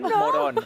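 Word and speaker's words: Morón: Loren Moron. Loren Moron. Loron moron. And please don't call him Moron. I mean, because I know that's the accent is on the O, so it's moron.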